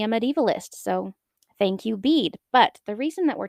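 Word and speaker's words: Bede: let's talk about another man his name is Bead It is spelled be e d he is a monk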